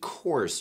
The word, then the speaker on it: course: 请大家注意 course 这个单词的发音。不出意外的话，在座肯定有不少同学读的是 course。Of course, that's no good.